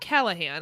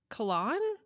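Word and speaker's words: Cahalan: by Susanna uh cal It's not Callahan it's colan I'm I'm certain I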